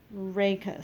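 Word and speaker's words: rachis: how to pronounce it oh it's actually pronounced rey cas reika so this part is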